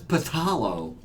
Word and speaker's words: phthalo: that's right yes actually it is spelled uh P HT h a l o so that's paalo yeah but they say phthalo D it's like those